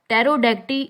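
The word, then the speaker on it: pterodactyl: तो यहाँ पर पी साउंड रिपीट हुआ है, लेकिन जो लास्ट वर्ड है टेरोडेक्टी, इसमें पी साइलेंट है।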